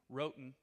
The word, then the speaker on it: Roughton: tell people my name my name is Roton it's spelt like roughed-in people automatically say you